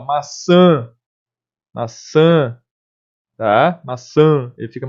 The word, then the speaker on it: maçã: Então, nesse caso, se eu não tivesse o tio e a pronúncia não fosse maçã, fosse maçá, por exemplo, deveria ter o acento agudo.